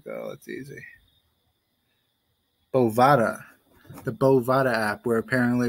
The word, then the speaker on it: Bovada: South Carolina it is legal to use the Bodunva, whatever the fuck. Let's see how you pronounce it, because I read it and I was like, oh, that's easy. Bovada.